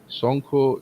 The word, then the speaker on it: Sonko: If you see, Sonko is the real pronunciation of my name, and Monjori is kind of collection of my work.